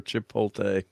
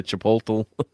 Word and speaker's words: Chipotle: today multi sauce or Chipotle I can never say Chipotle that's because you're putting in the fastest on the wrong syllable yes I would say